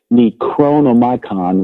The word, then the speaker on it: Necronomicon: The Necronomicon, I have to pronounce it correctly, Necronomicon, which was a sort of grimoire, a magical cookbook, if you will, their religious ideas.